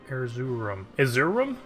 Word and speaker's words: Erzurum: Erzurum?